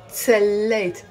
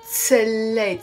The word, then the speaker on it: تسليت: It sounds almost like a t sound because it's written with a t and a s together, but it's pronounced t. تسليت. It's two syllables. I'm not saying تسليت. No, it's تسليت.